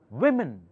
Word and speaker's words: women: of s surface women many people mispronounce it it's called women not woman w m e n o takes e sound women all right